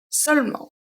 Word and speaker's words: seulement: Another adverb, once again, we have seulement.